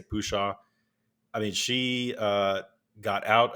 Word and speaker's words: Pushaw: Christina Pushaw, who I don't even know how to pronounce her last name, Pushaw. I say Pushaw.